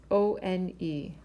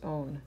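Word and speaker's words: -one: In terms of naming, we see the suffix O-N-E, which is own, pronounced own, not one.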